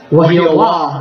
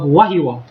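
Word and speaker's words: Wahiawā: So they're saying they're saying what? Wahiawa. Wahiawa instead of wahiwa.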